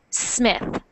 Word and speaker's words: Smith: actually they both because when you make that s sound you normally have a sound before it like s like es smth but uh in English we start words that have the S with the S sound so we say Smith Smith Smith Smith so